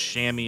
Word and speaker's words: Chamois: You know, people are kind of wondering, it looks like Chamois. I've researched the heck out of it. It's Chamois is how you pronounce it.